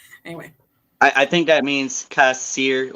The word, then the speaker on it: Kassir: I like that because it's more exotic that way than Kasser. John Kassir.